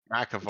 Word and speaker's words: McAvoy: James McAvoy. McAvoy, James that's right.